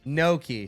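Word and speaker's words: gnocchi: So is Oh, what's the right way to say noki? Noki. So I said it right.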